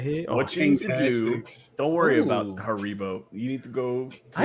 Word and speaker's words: Haribo: years polypha i've never heard anybody call it haribo yeah that's how you say it haribo yeah delicious i i i i do like